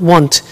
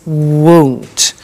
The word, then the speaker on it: won't: careful with the pronunciation it's not want it's won't so the example is